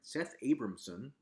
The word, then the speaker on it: Seth Abramson: Just this past Friday, Seth Abramson, yes, I'm pronouncing that right, Seth Abramson, who is one of the most notoriously crazy